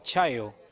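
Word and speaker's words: Sajó: juez Chayo creo pero si saben húngaros se pronuncia Chayo yo he conocido Android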